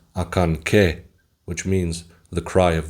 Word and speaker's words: Acanceh: actually there are three pyramids and it's actually pronounced akan which means the Cry of the deer as